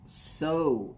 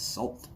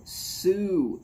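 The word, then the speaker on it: Sault: quite a bit more it's pronounced so michigan okay s-a-u-l-t that's salt i'm not from michigan my wife is my mother-in-law is yes they've got this thing for uh sparty oh sue michigan okay sue michigan at partagas black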